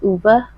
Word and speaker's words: Ove: reading a man called over apparently it's pronounced as uber this is the second